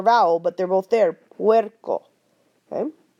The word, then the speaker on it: puerco: However, be aware that when you have a combination of U and E next to each other in a word, they will make that W sound. Because U and A, when you flow them together, you get that W. Okay, like this word, puerco, puerco. I'm saying the U and the A real fast.